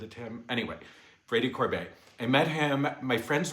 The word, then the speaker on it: Corbet: okay let me go back I met Brady corbette Corbet I wasn't sure I'm not sure he seems he I always thought his name was Brady Corbett and I was so wrong because he pronounces